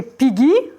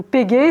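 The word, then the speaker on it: πηγή: Phréar, le puits, et Pigi, ou Pégé, selon comment on prononce, la source.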